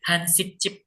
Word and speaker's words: 한식집: Bacanya Hansik Chip. Memang begitu ya. Aturannya gimana? Ini memang G ketemu dengan J gini, J-nya ini dibacanya C.